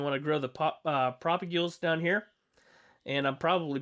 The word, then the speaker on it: propagule: leaves if you want to grow the pop propagules down here and i'm probably butchering the name of that how do we spell it let's see mangrove i am propagul i